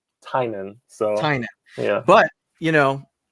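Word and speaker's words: Tynion: it holds up um james uh tinian or how do you pronounce it i uh i watched the interviews with the rip yeah he he pronounced it tynan so yeah but you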